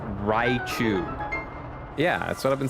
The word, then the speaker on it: Raichu: It's pronounced Raichu.